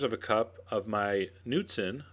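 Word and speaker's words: Knudsen: 3/4 of a cup of my nuten, the K is silent, light sour cream.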